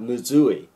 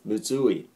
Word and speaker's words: むずい: of yes not muu or muu e but muui okay the pronunciation is muui so the accent is on okay on all